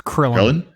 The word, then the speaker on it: Krillin: Rhymes with Thrillin'. It's Krillin.